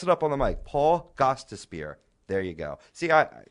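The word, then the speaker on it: Gostisbehere: Union One of course Paul gos spear uh gos despar why do I always mess it up on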